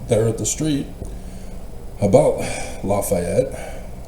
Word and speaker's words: Lafayette: And so talking to a a just a person there at the street about Lafayette, he huh? No, Lefetti. They've altered the original pronunciation for those who live there now.